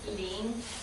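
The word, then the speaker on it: 零: So 0 is ling, ling, ling, ling.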